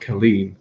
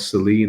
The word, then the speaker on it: Colleen: on all the covers, she's called Colleen, but it's with a C. And obviously, because I live in Ireland, that would be a hard C. But then other people call her Celine as well, which I'm like, that's not right.